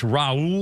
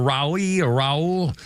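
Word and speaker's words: Roy: day 2 and Patrick r y pronounced Raul or RI Raul Patrick Raul ra ra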